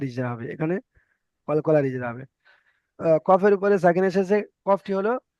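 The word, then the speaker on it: قاف: কফ কফ জিহব্বার গোড়া ওই সোজা উপরের তালুর সঙ্গে লাগিয়ে কফ উচ্চারণ হয়।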